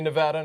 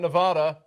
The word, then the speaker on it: Nevada: Tuesday we have a Democratic town hall and Nevada caucus coverage starting at 8:00 p.m. Eastern everybody say Nevada not Nevada Nevada Nevada Nevada and get ready for Colorado